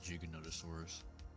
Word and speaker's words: Giganotosaurus: I heard that it's supposed to be Giganotosaurus. It's stupid, I know, but that's technically how it's intended to be said.